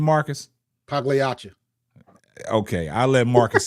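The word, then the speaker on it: Pagliocca: Pagliacci. Okay, I'll let Marcus say it for me because I botch it. It's Paglioka.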